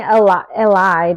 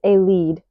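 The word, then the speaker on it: Elide: I was saying Eli, but it's they're telling me it's a lead.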